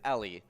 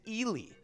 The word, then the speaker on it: Ely: here here it is it is common mispronouncing is ellie which i think you were trying to avoid saying ellie because it was just too obvious um and the actual pronunciation is ely uh the who knew